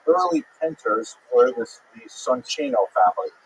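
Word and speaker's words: Soncino: Penters were this the Sonino family. I will probably pronounce it sino because you know I was born in North America but it is uh in situ it would be pronounced sonino.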